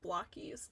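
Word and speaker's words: Blokees: Blokies is pronounced Blockies.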